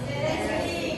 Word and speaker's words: interesting: Interesting. Again, everybody say? Interesting. Boys only? Interesting. How about girls? Interesting. The correct pronunciation for this word is interesting. Interesting. Interesting. Parang silent yan dito.